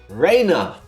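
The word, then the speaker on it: Reina: when you realize that Rea calls Rea Raina. R E I N A because only her new friends in Hin Mizawa call her Raina with R E N A. Does it sound like I just said the same thing twice?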